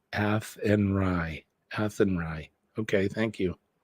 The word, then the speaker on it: Athenry: it's very windy the fields of atry is pronounced athenry a andry okay thank you it's like slan